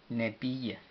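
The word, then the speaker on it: ነቢይ: relacionada, y es Nebi, Nebiye. Entonces se escribe ne, ne, ne, bi, be, i, y, ye, nebiye. La y no lleva pronunciación en el vocal.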